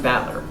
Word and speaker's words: Battler: problem's my own name battler is made up of the characters are fighting person and it's pronounced battler put it all together